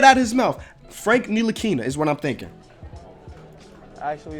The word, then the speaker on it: Ntilikina: Actually, it's Frank Ntilikina. Thank you. Yeah. Excuse me. Say it one more time, Frankie. Frankie Smokes. Actually, it's Frank Ntilikina. Thank you, guys. Frank Ntilikina. Ntilikina. So no, that's an L.